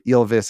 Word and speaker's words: Ylvis: Ylvis or Elvis. It's basically Elvis with a Y.